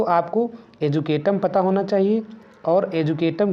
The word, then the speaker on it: educatum: तो यहाँ पर शब्द आपका एजुकेशन है, और एजुकेशन शब्द लैटिन भाषा के एजुकेटम से लिया गया है, जिसकी स्पेलिंग है EDUCATUM। इसे बोलते हैं एजुकेटम।